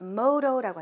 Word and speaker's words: motto: 약간의 발음 수정을 해야 될 것 같은데요. My motto. This motto라고 하셔야 되는데 this motto라고 하셨어요. motto가 아니라 motto. motto 발음해 보세요. One more time.